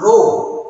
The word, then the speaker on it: rho: How to pronounce? Rho.